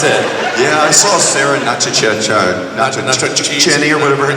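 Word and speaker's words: Sarah Natochenny: Yeah, I saw Sarah Nachacheni or whatever her name is. Natacheni? Is that how you say it? It's not your cheese. No, I'm teasing, guys. How do you say it for real? Natacheni. Natacheni.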